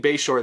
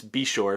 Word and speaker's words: Beshore: busch is teaming up with i believe it's pronounced ben beshore we've been saying bayshore this whole time i believe joe gibbs confirmed it's be sure so anyway he's teamed up with a new